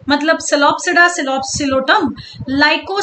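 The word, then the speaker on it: Psilopsida: ये देखो, सिलो मतलब सिलोप्सिडा, ओपी any which way silent है, तो हमने सोच लिया सिलो मतलब सिलोप्सिडा, ये सिलो मतलब सिलोटम।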